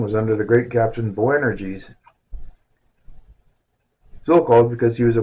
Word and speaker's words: Boanerges: I need to learn how to pronounce this word. B O A N E R G E S.